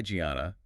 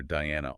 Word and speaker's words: Gianna: And the host says, hi, Gianna. And we realize Colt has been calling her Diana all season.